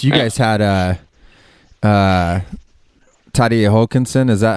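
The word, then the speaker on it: Terje Haakonsen: and i guess you guys had uh uh tadie hulkinson is that how you pronounce his name exactly yeah i mean he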